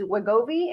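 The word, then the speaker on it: Wegovy: who's taking I don't know what this is wagobi and starting carnivore diet what's your thoughts and suggestions first I don't know what Gobi is well first of all uh congratulations for pronouncing it right oh so wegovi is the uh you know how we are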